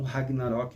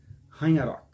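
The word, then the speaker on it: Ragnarök: Eu sei que muita gente lê como Ragnarok, mas me parece que a pronúncia correta é Ragnarok.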